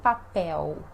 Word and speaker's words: papel: com cedilha de papel mais uma vez o l sozinho no final com som de u lenço de papel lenço de papel e